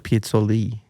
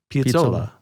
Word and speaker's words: Piazzolla: How do you say it? I thought it was Piazzolli. Piazzolla. Piazzolla. The A on the end. Do you say you pronounce A's and Z's? Say it A.